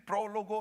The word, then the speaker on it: prólogo: El prólogo, hermanos, esa es la pronunciación correcta.